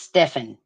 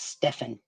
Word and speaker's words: Stephan: yes but it's pronounced Stefan not Stefan gotcha Stefan okay Stephan that's what all his friends and that's what everyone else says it's Stefan that's how they pronounce it but it's spelled s